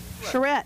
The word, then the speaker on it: Schertz: Schertz, thank you. I went to some of those, and they were very well attended. We had a bunch of people from Schertz coming out and giving their vision of the